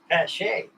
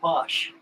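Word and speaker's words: Paasche: The correct word for this is Pache. A lot of guys call it a posh.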